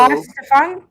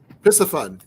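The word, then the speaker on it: Piscifun: Piscafun. Listen, guys. Piscafun. So the C is not pronounced. Piscafun. Right. The SCI is pronounced like sci, like science.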